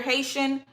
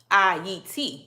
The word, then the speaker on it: Ayiti: Like even Haiti, Haiti is not that Haiti is the American version of how you say it. But Haiti, how it's supposed to be called is called Ayiti. Ayiti. It's not Haiti. It's Ayiti. Right.